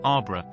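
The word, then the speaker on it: arbre: in the same way he was taught to pronounce ape sing and tree arbra he was a most eager student and in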